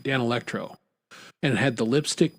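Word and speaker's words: Danelectro: One was I won't say the name right. Dan Electro. There we go. Now I'm saying it right. Dan Electro.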